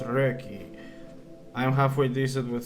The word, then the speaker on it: Röki: based on scandinavian folklore and yes it is pronounced reiki i am halfway decent with swedish so i